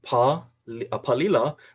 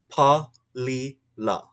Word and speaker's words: Palila: And we move back up into Palila, which is Pa-li-la. Pa-li-la.